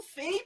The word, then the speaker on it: Fai: Na verdade, eu já falo Fei por quê? Porque é mais fácil. O nome é Fai, se pronuncia.